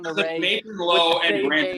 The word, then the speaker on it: Lowe: Nathan Lowe the and same Brandon name. Lau. That's why he says that. Okay. One's moving on. pronounced Low, one's pronounced Lau, and Robert finds it endlessly hilarious.